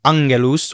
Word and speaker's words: angelus: Now, the G in Latin is also always hard, as in Gallia. It is also hard in the middle of a word. For example, angelus or angulus. The G is always hard.